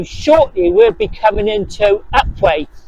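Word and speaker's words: Upwey: over them so shortly we'll be coming into upway it's sped upwe upu P we y but it's pronounced upway and that's where our first church is going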